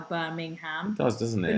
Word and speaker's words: Birmingham: I would have been impressed if they'd called it Birmingham, like the way Londoners call Birmingham. It's also the pronunciation of ham that people from North America say Birmingham. Yeah. Like we say Birmingham. Yeah, but they say ham, like the meat, ham.